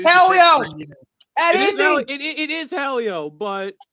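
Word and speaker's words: Hélio: It is Helio, but how long are you going to pronounce his name wrong for, Mel?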